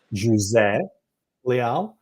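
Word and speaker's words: José: Jose Leal or as Christine knows how to pronounce it J Le I'm Portuguese and that's the way we pronounce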